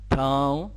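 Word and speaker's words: ٿانءُ: تاو. تاو أي الإناء. النون هذا ما ننطقه بس يجي الصوت يعني من الخشم وينطق الضمة هذه. تنطق الضمة هذه.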